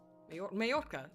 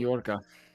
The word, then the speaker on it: Mallorca: Majorca. Oh, Spain. Mallorca.